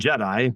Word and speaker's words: Jedi: a lord or whatever, and Jedi, like the Star Wars thing.